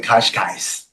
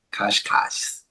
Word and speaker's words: Cascais: now in Lisbon, Portugal, and Lisboa, as the locals say. Lisboa, Lisboa. Yes. And today I went to Cascais. you went to what? It's a seaside city, Cascais.